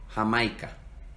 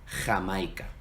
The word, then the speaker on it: Jamaica: En América Latina, sobre todo en el Caribe, se pronuncia como la H en inglés. J. José, Jamaica. Pero en España, por la influencia árabe, suena más gutural, viene de la garganta. José, Jamaica.